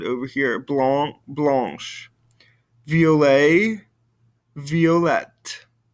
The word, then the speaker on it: violet: here blond blanche vla violet i don't hear the t sound over here but i do over here all right so let's